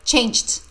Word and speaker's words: changed: best of change teach Andrea changed with d the Frog changed into